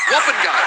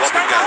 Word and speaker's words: Taukeiaho: By the way, that Lake Taukeiaho, it rhymes with stop and go. So, it's Lake Taukeiaho. Taukeiaho.